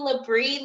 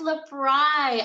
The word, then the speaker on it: L'BRI: i told her i don't know it's some labrie lebron i don't know how to say it she's like oh that's lebron i've been telling you for so long that